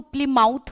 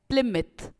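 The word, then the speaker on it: Plymouth: अब बहुत सारे लोग इसको प्लिमाउथ बोलते हैं, इसको बेसिकली प्रोनाउंसिएशन जो इसकी करेक्ट है वो है प्लिमिथ।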